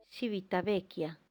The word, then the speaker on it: Civitavecchia: en civitavecchia en italia en italiano se pronuncia civitavecchia a partir del día